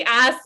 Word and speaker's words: HACE: Alliance for Career Enhancement, or we say ACE if we pronounce it in Spanish, or HACE, but traditionally ACE, right?